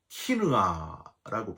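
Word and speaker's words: קנאה: 여러분, 이 질투라는 단어는 히브리어로 키느아라고 발음합니다.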